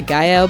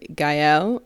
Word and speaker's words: Gael: I was, going for a French pronunciation, but I did a little more research, and Gael, I believe, is the correct pronunciation.